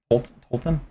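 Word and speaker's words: Tolten: Tolton, I say his name right for once in my life.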